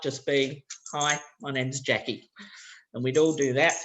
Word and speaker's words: Jacky: write down my name okay and this the syllable so jackie jackie so immediately we've introduced syllables and stress